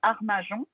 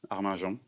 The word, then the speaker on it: Arminjon: Armajon, est-ce que je prononce bien? C'est ça, Arminjon.